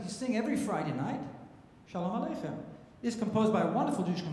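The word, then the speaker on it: שלום: Hebrew shom correct last it's the last syllable you put emphasis on the long if you if you didn't read it correctly what would you say shalom right you w say but it's wrong you can't say shalom it's shalom okay now you have the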